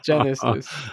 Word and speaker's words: GenAISys: And it was interesting, I forgot to hear you pronounce what I said, GenAISys, but you call it GenAISys, right? Yes, Genesis.